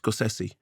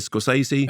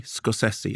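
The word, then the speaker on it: Scorsese: one thing I she said his name is pronounced scosi and I had I've always said scosi everyone says that no but apparently scosi and she was very very clear about this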